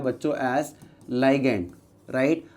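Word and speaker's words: ligand: बोलते हैं बच्चों ऐज़ लाइगेंड राइट? अब आप इसको लीग्ड प्रोनाउंस कर सकते हो या लीगेंड बोल सकते हो।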